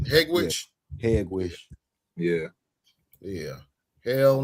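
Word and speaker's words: Hegewisch: Ain't a bunch of Mexicans and what is that? Hagenwich or something like that? Yeah, all over. Yeah, Hegwish. Yeah. Is that how you say it? Hegwish?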